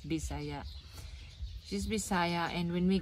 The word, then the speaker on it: Bisaya: bisaya it's how the it's how it is pronounced bisaya she's messiah and when we got there we